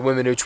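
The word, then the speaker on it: Weminuche: Our time here in Colorado, our time in the Wiminouche Wilderness. I hope I'm saying that right. I try to look up pronunciations. Wiminouche, not the E, so it's not Wiminouche.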